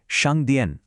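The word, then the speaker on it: 商店: কোন সাধারণ দোকান বা স্টোরকে ম্যান্ডেনে বলা হয় সাংদিয়ে এর উচ্চারণটা হলো সাং দিয়ে প্রতিদিনের কেনাকাটার জন্য এই শব্দটা কিন্তু বারবার কাজে লাগতে পারে।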